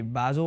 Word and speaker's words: Basel: Real Madrid drawing with F.C Basel, or F.C Bal, I think they pronounce it.